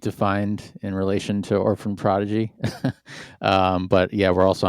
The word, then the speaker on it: Orphan Prodigy: Orphan Prodigy.